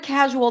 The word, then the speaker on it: casual: take the word casual in the word casual the primary stress is C casual it's a casual meeting